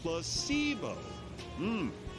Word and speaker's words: placebo: today repeat after me placeo the stress is on the middle C placeo very good you're fing